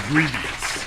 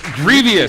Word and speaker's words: Grevioux: It's Grevioux. Grevioux. 3 syllables, yeah. Grevioux. Rhymes with previous, like I always Like say. previously.